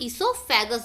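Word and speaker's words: oesophagus: Means यहाँ इसे हम इसोफेगस बोलते हैं. इसमें जो ओ रहता है वो साइलेंट रहता है.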